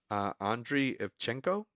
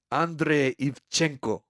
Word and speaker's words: Andrei Ivchenko: That's Andrei Ivchenko. Is that how you want me to pronounce it? It's like do it with a Russian accent.